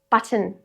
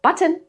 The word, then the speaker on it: button: Button. Not button, it's button.